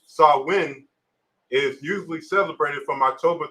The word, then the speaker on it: Samhain: keep going and monotone samhain a gallup word pronounced saw win is usually celebrated from